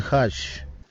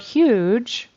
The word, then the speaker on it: huge: was strong and huge so that word huge he had the bow wrong it should be huge o he had a a and then the final consonant that g sound which actually is sounding like a j huge JJ that g spelling sounds like a j sound he said it as an sh with a sh sh so he says hush instead of huge that makes it